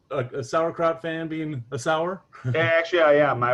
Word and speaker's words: Sauer: other day totally trivial your last name is pronounced sour right yeah like the kraut yup okay that's i